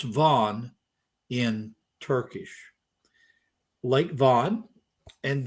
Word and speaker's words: Van: South of Mount Ararat is a lake called Lake, we would pronounce it in English Van, but it's pronounced Van in Turkish.